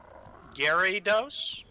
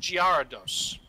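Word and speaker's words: Gyarados: and it's probably a lesser known one um Gary DOS I will stab you Gary dos yeah they've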